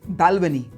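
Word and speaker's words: Balvenie: ओ वाई जी फ्रॉइग लफ्रोइग eighth is बालवेनी बालवेनी बाल्वनी ninth बोमोर बोमोर 10थ टैलकर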